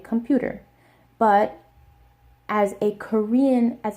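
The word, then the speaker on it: 컴퓨터: it's an English word I should just say computer no say computer and that will immediately make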